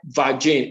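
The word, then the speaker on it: Vaginne: world it's called virgin it's called vagine if you can say it or type it in the chat room type vagine is spelled v-a-g-i-n-n-e vagine a powerful lactobacteria based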